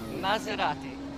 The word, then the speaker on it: Maserati: Can you just say Maserati for me, because it doesn't sound so good in a Birmingham accent? The proper way to say it is Maserati.